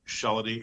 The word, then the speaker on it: Shellady: being called, you know, my last name is pronounced Sheldy.